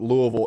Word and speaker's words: Louisville: tell you that louisville and that's how you pronounce it louisville is 100 and i got one more guy